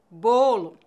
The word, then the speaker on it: bolo: bola quando pronunciamos o o fechado nossa boca fica mais fechada avô bolo Observe meus lábios o